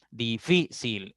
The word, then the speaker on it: difícil: Difícil. En fi está la sílaba tónica porque la i está llevando tilde. Cerámica, ra es la sílaba tónica porque está la tilde en la a.